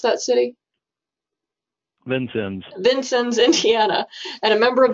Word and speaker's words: Vincennes: Troy Hinkle is the Development Director for Knox County Soil and Water Conservation District in, how do you pronounce that city? Vincennes, Indiana, and a member of the steering committee for Southern Indiana Cooperative Invasives Management.